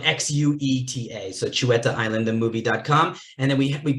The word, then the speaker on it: Xueta: It's spelled Xueta.